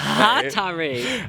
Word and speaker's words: Hatari: So Hatari. I'm not even going to try it because someone will tell me off. The bottom line is this was fantastic. Apparently the thrust goes on the first syllable.